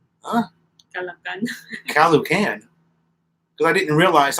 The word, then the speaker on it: Caloocan: Yeah, when the O's are together, you have to pronounce both of them. I remember when I first met Melanie, I used to call Caloocan, Caloocan City.